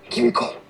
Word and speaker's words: Kimiko: Kimiko. Kimco, okay. I think I was saying Kamiko. I was like trying to add every extra syllables in that shit, man.